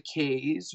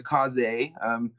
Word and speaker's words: Kaze: So we call this one the K's or the Kaze. Depends how you want to pronounce it. It's technically Japanese for wind, in case you're wondering.